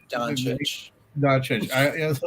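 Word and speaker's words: Dončić: I had to call my friend and say, oh, "How do you pronounce this guy's last name?" Doncic.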